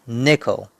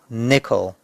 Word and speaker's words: nickel: and co so it's nickel and the stress is on the first syllable nickel nickel nickel and we use